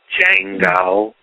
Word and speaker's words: Django: No, the D is silent. Django.